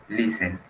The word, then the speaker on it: listen: Y aquí la T, listen.